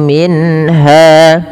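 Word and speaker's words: مِنْهَا: Wala yuqbalu minha minha. Jelaskan suara nunnya ketika bertemu dengan ha karena ia izhar halq dalam ayat ini.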